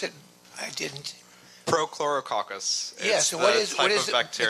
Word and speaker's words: Prochlorococcus: What was that process you called photorococcus? Would you pronounce it? I didn't. Prochlorococcus.